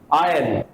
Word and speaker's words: iron: we pronounce it as iron the letter r will be silent here the letter r will